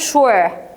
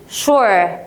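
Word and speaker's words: sure: وور يعني لو دي كلمه لوحدها اقول شور هو انت بتحب الانجلش شور بص اسمع معايا ش مش هقول شور هي ده تنطق او شور تمام حلو بالتاكيد طيب اذا هي جزء من الكلمه بقت مقطع في النهايه يبقى بقى اسمها ايه بقى اسمها سفيكس المقطع بتاع النهايه اسمه ايه سفيكس يبقى لو هي لوحدها هقولها شور ولكن اذا هي في نهايه الكلمه هقول ج هقول ايه ج ا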